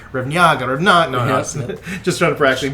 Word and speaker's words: Revniaga: I'm here with Vlad Revniaga. Is that how you actually pronounce? That is correct.